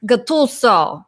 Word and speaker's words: Guttuso: because then you realize it should be pronounced Guttuso.